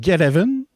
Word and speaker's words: Get Even: sous le nom de geten parce que c'est get even mais en un mot fait que ça se prononce c'est réalisé par un